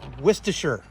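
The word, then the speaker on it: Worcestershire: tablespoon of wher sauce and yes that is how you say it wher and one tablespoon of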